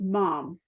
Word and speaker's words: Maame: it's pronounced Mom. It's Maame.